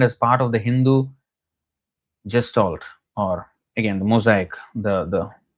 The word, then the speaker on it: gestalt: For although in sociological terms, Vaishnava Dharma could be defined as part of the Hindu gestalt, or again the mosaic, the pluralistic nature of